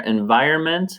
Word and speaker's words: environment: And remember that pronunciation there, environment, is silent N.